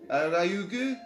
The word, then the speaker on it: Ryugu: Ryugu. It's spelled R-Y.